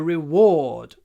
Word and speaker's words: reward: it's a reward a reward pronunciation re or D reward reward reward don't pronounce the r at the end you don't need to reward reward I like